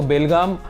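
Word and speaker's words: Belgaum: जब मैंने सोचा कि जोई ऑन द वे जाने के टाइम हम लोग ऑन द वे रुक जाएंगे, तो बेलगाम this is हाउ you pronounce it, तो that was ऑन द वे।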